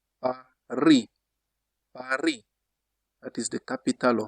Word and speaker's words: Paris: For example, we say Paris. In French, you don't say Paris. That is not correct French. Usually, the final consonant is silent. You just say Paris.